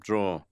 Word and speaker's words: drawer: 마지막에 있는 R 발음을 안 하시죠. 이분이 아까 그 똑같은 성우니까 as a in the top 원래라면 이제 drawer이 되겠지만 in the top draw라고 그냥 끝내버렸습니다. 자, 어디냐고 물어보는 질문에 일단은